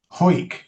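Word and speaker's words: Hawick: a disappointment to you, the pronunciation of that Scottish name, H A W I C K, is Ho. Yes. Ho.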